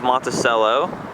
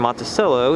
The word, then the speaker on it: Monticello: is a bank and the word Monticello is pronounced Monticello but in good old future dialects they turned this town's name into Monticello so trying to keep it the culture here but I like Monticello better also since I was